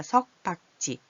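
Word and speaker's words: 섞박지: 석박지는 뭐예요? 섞어서 박는 거예요. 근데 섞어박지가 아니라 석박지.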